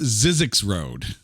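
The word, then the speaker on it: Zzyzx Rd.: go with zed zy ZX Road pronounced zizzi X Road okay all right I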